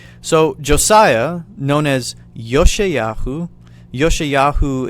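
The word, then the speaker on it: יֹאשִׁיָּהוּ: josiah known as yoshiyachu yoshiyahu is how you pronounce his name in the hebrew tongue yoshiyahu or josiah was eight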